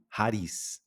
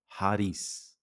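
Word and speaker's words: χάρις: E na pronúncia erasmiana, eh, o ri ele tem um som como de um r fraco.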